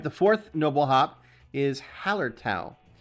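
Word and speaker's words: Hallertau: fourth Noble hop is Hower toow some people pronounce it Hower toe um whatever you know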